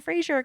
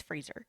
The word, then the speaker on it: Fraser: just cuts him off it's freezer yeah he's like oh it's real it is Fraser yeah and Dicky I think even says like why do people say it that way I think I mentioned